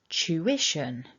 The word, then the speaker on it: tuition: So it's that sound, chew. And then we've got a short I and the sh. So together, ish, ish. And a little weak schwa with a nasal n, un. So bringing all of that back together, remember to keep the strength on syllable 2.